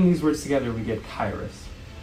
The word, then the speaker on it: Qyrus: much better q-y-r-u-s pronounce kairis derives its name from